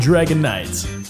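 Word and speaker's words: Dragonite: as most of you already know the proper pronunciation is dratini dragon air and Dragon Knights now back to who turned canes you're welcome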